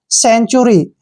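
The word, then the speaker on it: century: है क्या पढ़ना है चूरी टूरी नहीं पढ़ना है च का साउंड आएगा ठीक है ना जब भी टी के बाद यू आता है और फिर आर आता है तो टी का जो उच्चारण है च करते हैं तो यहां पर टी य आर वाई को चूरी पढ़ेंगे सेंचुरी सेंचुरी मींस होता है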